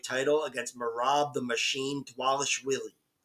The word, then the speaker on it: Dvalishvili: Against morab the Machine dwes Willie and that is how you pronounce it dwes wheelie and I've got morab